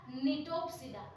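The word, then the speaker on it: Gnetopsida: Types of gymnosperms देखेंगे तो सिकाडोप्सिडा, कॉनिफेरोप्सिडा, निटोप्सिडा। जी यहाँ साइलेंट रहेगा, ये भी नहीं दिया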